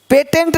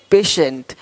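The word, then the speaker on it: patient: देखो पेशेंट पेटेंट नहीं पेशेंट।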